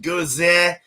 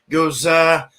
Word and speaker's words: Gose: and history some history so the Goza generally pronounced Gaza Gaza is a minor style associated with like lips